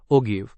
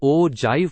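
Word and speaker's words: ogive: Cumulative frequency polygon को ओगिव जिसको ओजाईव pronounce करते हैं भी कहते हैं।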